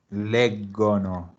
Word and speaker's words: leggono: Leggono. Perfecto. Entonces la GO vuelve a sonar go. Leggono.